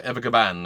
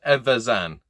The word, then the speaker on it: Evazan: I can never say his name. I always go to say like Dr. Evagaban and end up saying like Azkaban and crossing franchises. It's very weird. But Dr. Evazan.